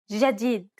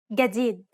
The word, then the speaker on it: جديد: In Egyptian Arabic, this letter is pronounced like a regular English G, as in game. Let's listen to the difference one more time. In Standard, جديد. and in Egyptian. جديد. Of course, both pronunciations are correct.